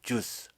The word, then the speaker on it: Zeus: 바나바스를 그들은, 자, 제우스, 영어 발음은 주스 라고 불렀고, 폴을 그들은 헐미스 라고 불렀다.